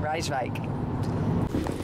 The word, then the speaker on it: Rijswijk: That's the way you pronounce it? Rijswijk.